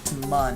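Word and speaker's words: Mün: on this game is mun and that's the moon of kban or actually really should be pronounced Moon even though it's spelled m u n but the U had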